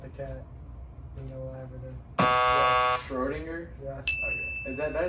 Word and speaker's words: Schrödinger: Schrödinger?